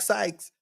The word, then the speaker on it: Sykes: a Chief Justice like Sykes. And if you're in a dancer, say because Syke rhyme with Pike, it just everything just right.